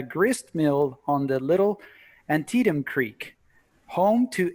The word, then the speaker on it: Antietam: you drop I off any thought further, I you're nailed in the Antietam.